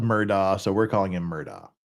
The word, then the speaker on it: Murdaugh: See, Law and Crime's calling him Murdaugh, But everyone I've heard, including the judge and everything, is Murdaugh, and it's spelled Murdaugh, so we're calling him Murdaugh.